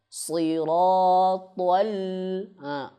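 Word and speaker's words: صِرَاطَ: Jangan bacanya tol. Nah, Siratal. Al lamnya menjadi tebal. Nih, lam ini harus tipis.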